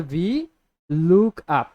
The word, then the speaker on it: VLOOKUP: করবো ঠিক আছে যেটা অনেকে উচ্চারণ করে বা লুকআপ লুকআপ যার যেটা মন চায় তো আপনারা যেহেতু এখন শিখছেন বিগিনার হিসেবে আছেন তো আপনারা চেষ্টা করবেন সবসময় সঠিক উচ্চারণটা করতে যেটা হচ্ছে ভি লুক আপ লুক আপ লুকআপ কার